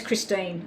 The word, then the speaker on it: Christine: time your name is christine okay so it's teen is it it's team not pronounced time okay christine thank you